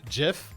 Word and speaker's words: GIF: by the xbox team xbox studios it's actually pronounced jiff oh no please please leave now slayer please